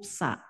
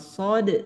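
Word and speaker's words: ص: huruf Shad Allah allahuad hati-hati huruf SH pengucapannya tertukar dengan huruf sa gitu ya karena Shad dengan sa itu tempat keluarnya makhrajnya sama yakni dari ujung lidah dengan dengan ujung gigi seri bawah ujung lidah dengan ujung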